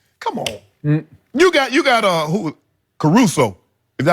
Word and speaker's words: Caruso: Caruso.